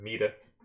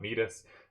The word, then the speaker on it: Midas: the whole time uh king midas is pronounced midas i believe not metis but i'm i'm too